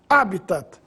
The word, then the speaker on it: habitat: mas em todo caso a pronúncia oficial é habitat palavra proparoxítona no caso de Déficit